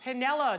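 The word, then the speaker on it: Piniella: throughout the 1950s and Pinella notice I said spelling counts there's an unpronounced i after the end had they do Girardi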